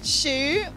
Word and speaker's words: Shu: Shu, like the shoe you wear on your feet. That's how you pronounce it.